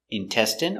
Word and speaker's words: intestine: jasmine tea very good so remember these special words ending with i n e we pronounce them all the same in in remember medicine margarine intestine or intestines more than one genuine famine remember it's countable a famine famine and Jasmine hello welcome to English